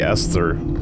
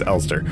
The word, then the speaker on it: Elster: from start to finish waking up as the Esther elster elster is it the see I had such a tough time pronouncing this waking up as the alster unit right it's Ulster waking up is the alster unit on an